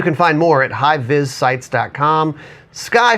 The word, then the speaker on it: SCCY: Sky Firearms, if you don't say it and then try to spell it, it's SCCY, just a pro tip for you.